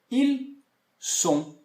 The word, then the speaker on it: ils sont: E, para terminar, então, essa parte de pronúncia, ils sont. Eles são. Elles sont. Elas são. E aí eu não pronuncio, então, esse T, ok?